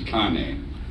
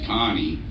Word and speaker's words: Kane: But yeah, and you know, when you're young and you try and tell people that your name is Kane, they never pronounce it correctly. It becomes Connie.